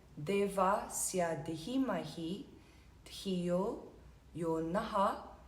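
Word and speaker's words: नः: Swaha, Tahat, Savitur, Varenyam, Bhargo, Deva Sya Dhimahi, Dhiyo, Yo Naha, or you might hear it as Naf, sometimes if it runs into the next word, Pracho Dayat.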